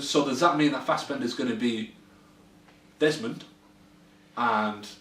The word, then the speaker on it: Fassbender: Is that how you pronounce it? Fassbender? Yeah, Fassbender.